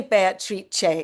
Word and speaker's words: Beatrice: And I'd known about, I say Beatrice, which is the Italian, it's a bit pretentious, it's the Italian pronunciation.